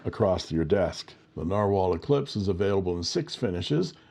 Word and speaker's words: Nahvalur: 90 GSM paper and this is the Narwhal pronounced narwhal eclipse and it has a fine steel nib